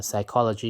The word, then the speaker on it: psychology: when you say uh psychology you need a silent p isn't it true if not if you just put s y c h o it doesn't make sense yeah so this will